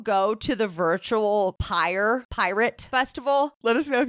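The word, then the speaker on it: PYRT: he's organizing a new Festival called pirate P RT pronounced pirate and this is a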